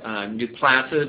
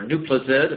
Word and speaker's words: Nuplazid: And that brings us to where we are now in this new drug, Nuplazid or Nuplazid, apparently both pronunciations are used, that was recently